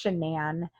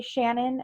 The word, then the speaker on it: Shanann: And Shanann, I think it's Shanann. I've heard her dad say Shannon, but then I hear everyone else say Shanann.